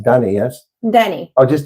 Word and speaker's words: Dany: So my guest this afternoon or this evening is pronounced Dany, yes? Dany. Oh, just Dany.